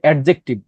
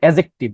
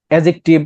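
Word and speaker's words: adjective: এটার উচ্চারণ কিন্তু এডজেক্টিভ এই যে তোমার ডি উচ্চারণ হবে না ওকে অনেকে বলে যে এডজেক্টিভ ইটস রং এটার উচ্চারণ হচ্ছে এডজেক্টিভ মনে রাখবা এডজেক্টিভ তারপর তোমার এই যে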